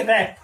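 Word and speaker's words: wrap: Next word देखें तो वो है डब्ल्यू आर ए पी रैप, डब्ल्यू आर ए पी रैप, रैप का मतलब होता है लपेटना, क्या होता है लपेटना।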